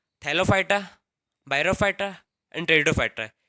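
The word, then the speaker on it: Pteridophyta: Division 3 टेरिडोफाइटा, इसमें पे silent रहता है इसलिए इसको बोलते हैं टेरिडोफाइटा।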